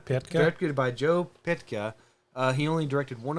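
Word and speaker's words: Pytka: Uh, the director, how do you say this name? PYT Ka. Pa. P YT Ka. Pitka. Pitka. Pitka. directed by Joe Pitka.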